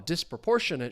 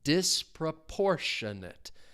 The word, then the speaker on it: disproportionate: and saying, well, a disproportionate share of work was done by the new interns and saying that they did a lot. The stress is on that third syllable. Disproportionate.